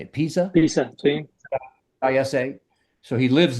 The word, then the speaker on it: Pisa: Pisa, sí.